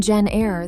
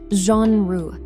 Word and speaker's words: genre: If you are saying genre, that's incorrect. It has a soft French-style ZH sound, genre.